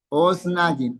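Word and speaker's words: אָזְנַיִם: ¿Por qué esta kamatz es kamatz katan y no kamatz gadol? O sea, que suena O y no A. Una, por la sheva que cierra sílaba. Si está en sílaba cerrada, va a tender a sonar O, pero sobre todo porque proviene del singular osen.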